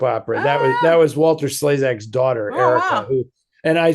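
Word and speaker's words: Walter Slezak: Um, did Walter Slesac put the word sleas into our vocabulary? No. No. No. Walter Slaysac, as it's actually pronounced.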